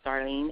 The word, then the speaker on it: Darleen: my name is spelled D is in David a r Len that's darling and my last name